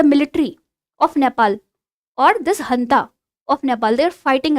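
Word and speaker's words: junta: a military coup, and this janta, which is pronounced as hanta, so it said that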